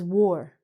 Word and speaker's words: wore: So, the past tense of wear is wore. The spelling is W-O-R-E, but the pronunciation is exactly like this terrible thing called war.